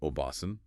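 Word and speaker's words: おばさん: The difference between obasan, ant, and obasan, grandmother, is just holding that a sound slightly longer, but it changes the meaning entirely.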